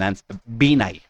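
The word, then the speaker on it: Binay: That's uh that's the that's the pronunciation n binai basically him for a commitment which was sat at 15% of the total amount of the projects.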